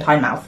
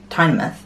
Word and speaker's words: Tynemouth: After breakfast, we took the metro to Tynemouth, which I think is how they say it, because everyone was saying Tynemouth, but it looks like I would say Tynemouth.